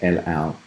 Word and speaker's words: et al: So just el-al, el-or, how it's pronounced. I pronounce it like an airline there.